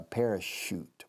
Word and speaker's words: parachute: She dared him to do a parachute. Parachute. La che suena SH inglesa.